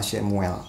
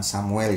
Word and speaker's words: Samuel: Nah, itu makna dari nama Shemuel, ya. Nah, tapi kita pakai pengucapan yang sudah lazim aja, kita biasa mengucapkan Samuel, ya, kita sebut Samuel saja, ya.